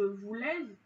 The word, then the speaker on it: voulais: On ne dit pas je voulais, hein, le S on ne le prononce pas, ou il voulait, le T on ne le prononce pas.